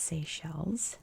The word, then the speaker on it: Seychelles: It's definitely pronounced Seychelles today.